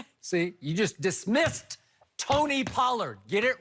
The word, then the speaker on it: Pollard: Tony Parker yeah see you just dismissed Tony Pollard get it right because you're going to have